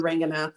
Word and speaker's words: Ranganath: and then Ranganath, sort of phonetically.